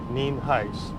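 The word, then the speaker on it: Nienhuis: hiset spelled ni en hu is and it's pronounced neem heights as most of you know about 848 last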